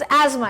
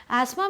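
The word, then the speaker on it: asthma: Okay, चलो next is थ जो होता है ना वो साइलेंट होता है एस्थमा में।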